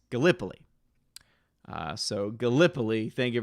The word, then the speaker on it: Gallipoli: pronunciation for once because i always look at it and like to say gallapoli when reality i believe it's gallipoli uh so gallipoli thank